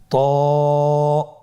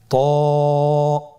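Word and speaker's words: ط: করলে আপনারা শিখতে পারবেন ত হফটি মোটা হরফ এটা উচ্চারণের সময় অবশ্যই মোটা করতে হবে এবং উচ্চারণ করার সময় এক আলিফ টেনে পড়তে হবে আমার সাথে বলুন ত আবার বলুন ত এর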